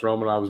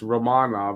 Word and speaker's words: Romanov: turning it around yeah i always pronounce romanov's name wrong it's ramana but i'm always saying romanov i don't even i say it some other way also i i don't